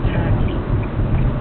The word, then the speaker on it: TKE: Mom and Dad, if your son is considering pledging next school year, the name of the fraternity is Tau Kappa Epsilon, TKE, pronounced tacky.